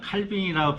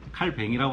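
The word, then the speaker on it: Calvin: 종교개혁사 칼빈, 이분은 프랑스인이라서 뭐 어떻게 부르냐 칼빈이라고 부르는 분도 있고요, 칼뱅이라고 하시는 분 있어요. 불란서 발음은, 프랑스어 발음은 칼뱅이라고 합니다.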